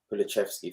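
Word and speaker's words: Kulusevski: Why I say that is because, yes, he got Kulishevsky, or help me with the pronunciation, please. Kulishevsky, thank you.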